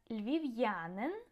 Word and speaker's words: львів'янин: Так, and львів'янин, Lviv resident. Notice apostrophe appears only after V, not after L.